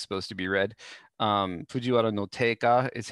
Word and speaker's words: Fujiwara no Teika: his name is supposed to be read um fujiwara no taka is how it's typically read although sometimes it's